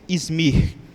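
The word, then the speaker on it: İzmir: conhecido como izmir né eu creio que esta é a pronúncia izmir ela está ali na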